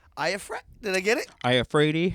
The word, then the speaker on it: Iafrate: Iafrate. Iafrate?